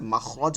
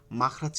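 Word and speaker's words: مخرج: মাখরাজ হচ্ছে আরবি শব্দ, এটা আমাদের মনে রাখতে হবে। মাখরাজ কিন্তু কোনো এই শব্দ না, এটা আরবি শব্দ, বাংলা শব্দ না। আমরা বলি মাখরাজ এরকম, কিন্তু উচ্চারণটা হবে মাখরাজ, মাখরাজ, মাখরাজ, মাখরাজ, মাখরাজ, খরাজা থেকে, ঠিক আছে।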